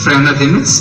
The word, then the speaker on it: Freinademetz: मेरा नाम जोसेफ फ्रेनादेमित्स है। क्या नाम है जॉन? पेस नहीं, फ्रेनादेमित्स। क्या? फे नहीं, फ्रेनादेमित्स। फादर जोसेफ है। जोसेफ नहीं, जोसेफ फ्रेनादेमित्स।